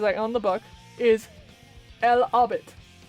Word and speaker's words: El Hobbit: So, The Hobbit, in Spanish, because I own the book, is El Hobbit. El Hobbit is literally spelled E-L-H-O-B-B-I-T. So it's still Hobbit. It's just the H is silent.